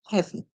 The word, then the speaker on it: heavy: So in the spelling for this word, always be careful to make sure you have the E and the A. Because the A is silent, you might forget it. Don't forget it. Remember, it's EA together. And they make the short sound the E.